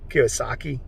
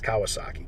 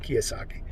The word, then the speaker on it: Kiyosaki: can say his name kiwasaki i don't think it's kawasaki kiyosaki and uh you know